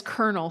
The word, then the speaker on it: colonel: But, you know, why is Colonel spelled with an L and pronounced with an R?